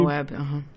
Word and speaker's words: Moab: The monolith, of course, shows up near, how's it pronounced? Moab, I believe? Moab, Moab, okay.